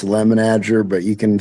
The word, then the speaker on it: Lemenager: I've been saying it wrong all my life. I never correct anybody. It's Lemenager, but you can say whatever you want to say, and you won't hurt my feelings.